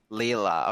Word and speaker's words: Laila: Like, how do you pronounce her? Laila. Leela, okay.